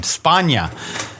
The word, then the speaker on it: Spagna: Spagna. Spagna. Well, Spagna not is, Spagna. No, Spagna's correct too. Spagna is kind of like the Mediterranean pronunciation. They're both correct.